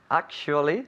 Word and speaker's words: actually: was the weather bad actually actually actually remember three syllables act act okay okay actually actually